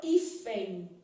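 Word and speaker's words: hífen: por exemplo na palavra ifem olha aqui ó o h não é pronunciado também né ifem só que tem som de i tá vendo Então bem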